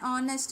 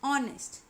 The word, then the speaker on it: honest: For example, an honest man. Okay, now here honest, it is starting with H but H is silent. We hear the word, the sound of the word only O, honest.